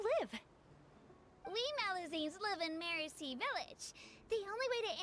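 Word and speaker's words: Merusea: We Malazines live in Mercy Village. The only way to enter is from underwater. Am I the only person who's been pronouncing that Merecia village? That's my bad.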